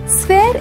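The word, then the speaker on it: sphere: स्फीयर इसका गलत उच्चारण है। इसे सही से बोलने के लिए इसके 2 भाग कीजिए। पहले बोले स्फी, फिर इसमें जोड़ दें यर। जोड़कर बोले स्फीयर।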